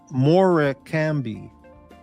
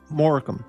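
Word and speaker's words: Morecambe: And she said, "No, you dumb It's Morham." Morham. It looks like Morami, but it's Morham if I remember right. Is that right? Rich Morham, not Morami or Moram.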